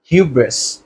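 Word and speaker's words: hubris: বি আর আই এ শব্দটি যুক্ত করি এর উচ্চারণটি দ্বারা হিউব্রেস হিউব্রেস ইংরেজিতে হিউব্রেস মানে হচ্ছে গর্ব করা গর্ব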